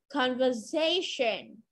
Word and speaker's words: conversation: Underline the important words in their conversation. Conversation, trọng âm rơi âm tiết đứng trước cái từ tion.